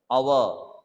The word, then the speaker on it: hour: to pronounce a world as if the h is silent our honest aid so i have been waiting here